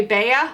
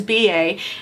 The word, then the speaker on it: BA: A lot of us say Bea. I said Bea for the longest time until I actually talked to Joe BA to find out how to say his name. So the correct pronunciation is BA.